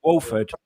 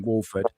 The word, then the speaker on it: Wolford: Your name, your surname, Wolford, is actually the name. It's spelt slightly different. It's spelt with an A instead of an O, but it sounds the same. Wolford.